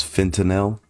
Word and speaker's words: fentanyl: flux are all foreign do you know the proper way to pronounce fentanyl is fentanyl yeah that's so weird now